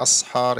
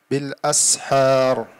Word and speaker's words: بالأسحار: Don't say أسحار, يعني it's not صاد, this is سين. بالأسحار.